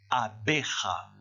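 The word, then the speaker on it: abeja: c'est une abeille et ça se prononce vous répétez après moi on a à bérat nous répéter encore ona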